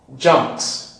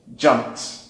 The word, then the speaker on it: jumped: Jumped. It's possible for us to pronounce it without P. Jumped, with the P not coming out.